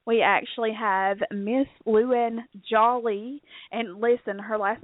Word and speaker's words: Jolly: She said, it's pronounced like Holly Jolly Christmas.